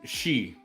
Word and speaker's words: Xi: Xi.